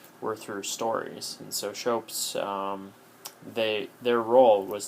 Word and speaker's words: scops: seashore all right so shopes it looks like scops but I believe that it is pronounced shopes um shopes were singing